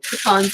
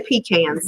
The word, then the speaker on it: pecans: Pecans are my favorite. Don't say pecans now. We don't say it like that down here. It's pecans.